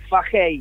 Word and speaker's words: Fahey: ¿Cómo pronuncio correctamente tu apellido? Fajey, Fahey.